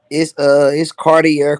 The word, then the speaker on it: Cartiier: I Can mean, you it's Cartier Carlo. Just like Cartier?